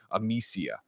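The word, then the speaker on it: Amicia: writes in it says i pronounce the name wrong of the main character it's amisia i apologize i apologize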